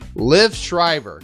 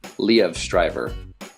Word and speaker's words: Liev Schreiber: name for they guess it's actually Lea leav Stryver the leaf leaf Shriver no well it's kind of yeah it's similar to that you it's like you're